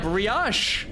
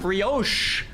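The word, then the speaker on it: brioche: Yeah, bri not bos.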